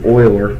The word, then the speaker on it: Euler: to go to menu we're gonna go to Euler which is spelled Li you le are so it's not